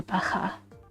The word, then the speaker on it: Baja: The J is pronounced as an H. Oh, Baja.